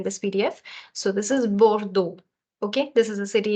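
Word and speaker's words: Bordeaux: go ahead B okay B so this is the sound of O and you're saying bordo bordo also this e a u and X this combination is is actually a syllable that exists in French which will come a little later for those who don't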